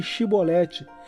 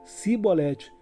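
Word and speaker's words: Chibolete: texto: Então lhe diziam, dize Shibolete, mas ele lhes dizia Sibolete, porque não o podia pronunciar bem.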